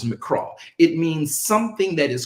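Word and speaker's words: מקרא: A mikra, rather pronounced, the Hebrew word is mikra.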